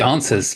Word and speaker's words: NSUS: there was some discussion pronounced is pronounced answers answers okay just answers to the word answers isn't that isn't that